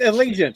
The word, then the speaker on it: Allegiant: It's Allegiant, isn't it? It's Allegiant. Allegiant. There- Yes. There we go, Allegiant.